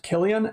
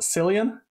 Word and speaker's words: Cillian: And Cillian Murphy, obviously, was absolutely incredible, though I still can't get over the fact that his name is pronounced Cillian and not Cillian.